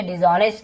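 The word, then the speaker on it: dishonest: Generally यानी आमतौर पर, सामान्य तौर पर, डिसऑनेस्ट, डिसऑनेस्ट का मतलब होता है, हम इसे डिसऑनेस्ट कहेंगे, एस साइलेंट होता है, ऑनेस्ट नहीं पढ़ेंगे, ऑनेस्ट, ठीक है।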